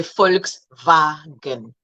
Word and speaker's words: Volkswagen: And then we go to the W, which sounds like V. So we say Volkswagen, Volkswagen, okay? Volkswagen. The W sounds like a V in the English van and vase, okay?